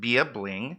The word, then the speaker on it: bya.bling: few items few items um so it's bya.bling pronounced be a bling where i sell handmade earrings glitter and more